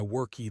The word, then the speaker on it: worked: But if you say yesterday, I worked late. Pronunciation mistake. I understand you, but I get distracted by the robotic sound. Worked is the goal, but silence is better than adding a syllable that doesn't exist.